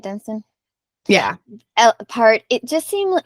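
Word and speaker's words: Dunstan: Dunston that's how you say his name right Dunston yeah part it just seemed to me like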